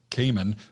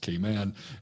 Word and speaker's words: Cayman: As a Southerner, I call it Cayman, but it's really pronounced Cayman.